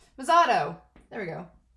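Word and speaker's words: Mezato: say her name right masato there we go I want to call her Mexico but it's mizato so she's meeting with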